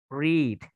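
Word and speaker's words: read: to is alright ya tulisannya sama ya er sama-sama tulisannya seperti red dan red Tapi bacanya beda the one you should create Rich pronounce it right and The Second the to is red ya Jadi kalau dipakai diwaktu bacanya red meskipun tulisannya sama ya if they are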